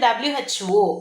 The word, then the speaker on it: WHO: இதே இது வந்து WHO அப்படின்னு சொல்லுவோம், ஹூன்னு சொல்ல மாட்டோம் இல்லையா?